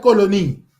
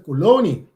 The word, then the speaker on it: kolonie: ta kai para trás, bueno no bisa colonie. Bueno, bisa colonie, maar bisa kolonie. Door wat bisa kolonie, klemtoon ta kai ergens mee.